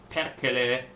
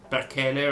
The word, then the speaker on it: Perkele: people getting mad because Perkele, as pronounced by Andreas Apergis as Otzoberg, was not the right pronunciation for that. Because it's like, it should be something like Perkele or something like that. I remember having this chat with Kata already.